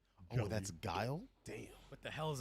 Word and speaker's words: Guile: call Guile Gully Yeah, because Gully. I Me was too. completely wrong. I never knew how to pronounce that when I was younger. I was like, oh, Gully. that's Guile?